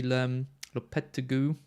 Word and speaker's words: Lopetegui: See Lopetegui. That's how you pronounce it.